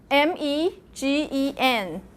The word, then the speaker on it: Nijmegen: I actually just pronounced it. It's Nijmegen.